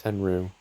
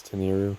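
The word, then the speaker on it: Tenryu: Also, I know I keep pronouncing it wrong, it's Tenru, but I've been saying it as Teneriu so long it's just kind of stuck.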